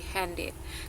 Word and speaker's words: handed: misalnya hand kan ada hand Iya hand plus ID jadi dia jadi handed kan hand it over gitu Ini juga bacanya jadi hand it kalau ini semua ya